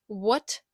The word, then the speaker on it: what: не вимовляється right Wrong також цікавим є буквосполучення w та H на початку слова перед будь-якою голосною крім о вимовляємо як в буква H не вимовляється What проте перед буква w